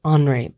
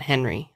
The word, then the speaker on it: Henri: It's like pronounced Henri Paul. It's not Henry.